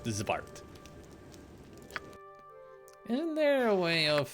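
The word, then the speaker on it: xvart: X-Vart. Yes? X-Vart. It's pronounced Zvart.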